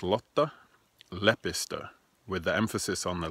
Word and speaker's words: Lotta Lepistö: a lot the lepus ters name it's not pronounced lata lepisto which makes a sound like a 1920s French gambler it's pronounced lata lepa stir with the emphasis on the left the beginning